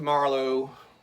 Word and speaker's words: Marlow: used to hearing but the first part is a little different so Rick's of Marlow that's how it's pronounced